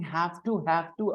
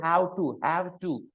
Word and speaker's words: have to: I find him speaking have to a lot. Have to. And he doesn't say have to, which is the right pronunciation. He says how to, have to. This is how he pronounces it.